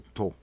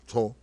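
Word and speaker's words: T'ho: Se escribe T-H-O, yo entiendo que la H suaviza la letra T, entonces sería como To, algo así se sonaría.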